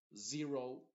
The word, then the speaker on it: zero: palabra por ejemplo zo Zero zone Zebra te das cuenta que no digo su Zero sino zo Zero zone Zebra zenth zipper